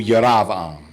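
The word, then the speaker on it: ירבעם: from the mistakes of jeroboam pronounced in Hebrew yerevan nobody understood how Jeroboam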